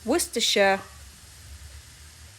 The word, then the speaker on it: Worcestershire: is worcestershire sauce time and yes it is pronounced worcestershire adding in the beef broth okay this is